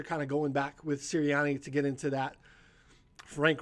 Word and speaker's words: Nick Sirianni: Nick, how do you pronounce this? Sirianni.